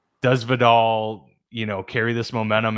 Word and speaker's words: Vidal: Um I've heard Videl Vidal. Vidal. Yeah.